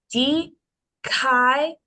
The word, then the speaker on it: Dikaiopolis: not only is that telling you to stress that syllable, it's also separating it entirely from the preceding diphthong. Oh. Yeah. So the way this word would be pronounced would be Dikaiopolis.